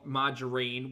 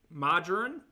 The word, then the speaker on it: margarine: Margarine. Is that how you say it? Cuz that's wrong. Margarine. Um, rhymes with tambourine.